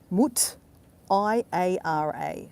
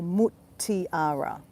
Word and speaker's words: Mutiara: Now it's spelled M-U-T, Mut, I-A-R-A. So Mutiara.